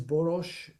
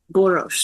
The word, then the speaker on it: Boros: pronounce your last name uh it's boros boros if you are in Hungary but it's boros in the United States and I'm not sure